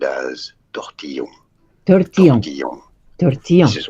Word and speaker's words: tortillon: Okay, officially it's called a tortillon.